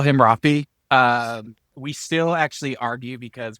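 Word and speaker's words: Raphi: We still actually argue because we met on the internet, and in his profile, he said Rafi, R-A-P-H-I, and then in parentheses, rhymes with coffee. Rafi and coffee do not rhyme.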